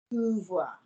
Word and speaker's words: pouvoir: Pouvoir. Not poo, OU, not poo. Pouvoir.